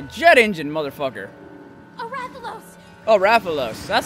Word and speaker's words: Rathalos: No, I don't want to think of the fact that he's in the Rathios nest.